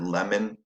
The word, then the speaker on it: lemon: So if you put your hand under your chin and say the word lemon, you'll notice that this is a quieter syllable, so that O doesn't say on, it says in.